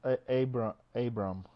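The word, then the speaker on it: Αβραάμ: And Avram is Avram. All right. Yeah. Well, yeah. They pronounce Abram, actually. Abram, but...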